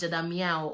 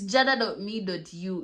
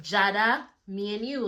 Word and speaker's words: jada.me.u: Some people are telling me like they pronounce my username as Jada Meow. Oh my god, it's jada.me.u. It's like Jada, me and you.